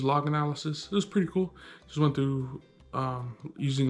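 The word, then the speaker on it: CeWL: cool so it's spelled it's pronounced cool but it's spelled c e w l basically cool was a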